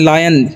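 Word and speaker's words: lion: एल आई ओ एन लायन क्या लिखा हुआ है इसे हम लोग पढ़ते हैं लायन यानी कि आई का उच्चारण यहां पर आई हो रहा है ठीक है आई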